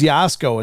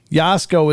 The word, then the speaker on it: Jasko: His name is Yasko. It's spelled Jasko. Yasko is his YouTube channel, so it's Yasko YouTube.